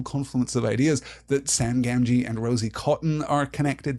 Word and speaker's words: Gamgee: to the repetition of the letter G here in Sam's name. One hard, one soft. That makes a lot of sense. Gamgee is the accepted pronunciation for Sam's last name.